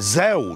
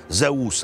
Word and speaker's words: Zeus: Zeus. The locals pronounce it Zus, but we don't associate the word Zus divinely, so let's stick to our pronunciation.